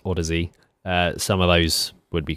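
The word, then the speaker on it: Audeze: Maybe some of the ones like the Heads or the apparently it's pronounced Odyssey, some of those would be quite good for us to try at some point.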